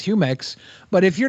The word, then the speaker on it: Jumex: I try but it's it's definitely Spanish like you know it's it is humex but if you're not